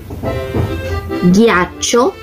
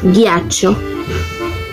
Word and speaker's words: ghiaccio: Por ejemplo, ghiaccio y portoghesi. Ese es el sonido similar al español, pero miren que se escribe con G, H.